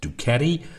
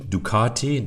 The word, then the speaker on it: Ducati: I know many languages and regional accents pronounce it ducatti, ducatti, ducati, ducati, but I'm British and so I say dukati, so I'm afraid you'll just have to live with it, at least for the duration of this video.